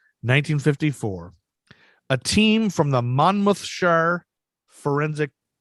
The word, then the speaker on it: Monmouthshire: a team from the monmouthshire forensic monmouth shire i think english people say mammoth sure and we say mount mother shire the mount mouth shire